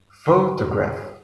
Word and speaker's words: photograph: look for the example the first example is photograph there are three syllables and we put the stress on that word in the first level so this magnets is a photograph photograph photograph the second example is